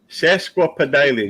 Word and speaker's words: sesquipedalian: Well, it's spelled just like it sounds. Sesqua, SESQUA or QUI Pedalian. Sesquipedalian.